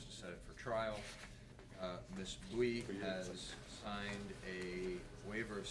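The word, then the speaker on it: Bui: Last name is B-U-I, Bowie, how do you say it? Bowie.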